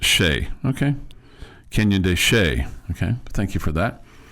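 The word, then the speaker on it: Chelly: Shelley's pronounced Shea.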